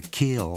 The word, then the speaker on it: kiln: It's spelt kiln, but we just call it the kill down here in Ole Miss.